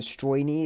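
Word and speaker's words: Стройный: I believe it's the Stroyny is how it's pronounced, but that's the premium destroyer.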